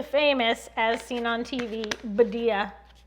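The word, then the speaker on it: Badia: as seen on tv badea formerly rhymes with medea rhymes with media and then we gingerbread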